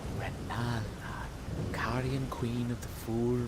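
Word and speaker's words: Rennala: No, my name is pronounced Rala.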